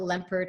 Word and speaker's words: Lempert: And my name is Lempert, and it's spelled Lem like lemon, P like Peter, ERT.